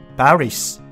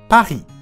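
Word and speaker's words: Paris: パリは英語で発音するとパリスですが、フランス語ではパリ、書いているのに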